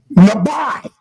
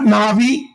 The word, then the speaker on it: Nabi: You say how do you pronounce the word prophet? Nabi. That's how you pronounce it. Not na'vi. Not uh but the lab by it has to have that I on the end.